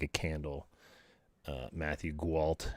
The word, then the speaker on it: Guo: Guo. Guo. But most people who don't know how to pronounce my name, they say Gualt. And Gwalt. yeah, but the L and T they are silent, so Can I call you Gwalt.